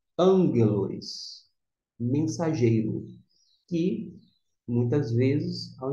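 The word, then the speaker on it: ἄγγελος: nós temos uma nuance Nós temos dois Gama esses dois Gamas que representa 2G Se a gente fosse pronunciar com 2G ficaria Mas acontece que quando tem dois Gamas esse primeiro aqui vai ter um sol nasal de n desta maneira ficará a pronúncia angelos mensageiro que muitas vezes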